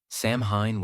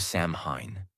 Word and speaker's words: Samhain: And the most powerful day of the year was October 31st, the night of the festival called Samhain, pronounced Samhain. What was Samhain? Samhain was the Celtic New Year's Eve, the final day of the year.